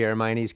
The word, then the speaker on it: Hermione: You really You really didn't know who that was when he said Hermione.